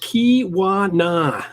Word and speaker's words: Keweenaw: So he says, this is in the Keweenaw Peninsula, pronounced Keweenaw.